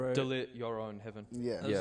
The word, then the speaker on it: Heaven: Heaven.